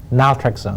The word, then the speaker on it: naltrexone: that right is that how you say it naltrexone naltrexone yes so again i mean if you low